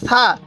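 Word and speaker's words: ثاء: সাটা একটু নরম করে উচ্চারণ করবেন। তাহলে সাটা উচ্চারণের সময় জিহ্বাটাকে দাঁতের আগার সাথে লাগিয়ে দিবেন।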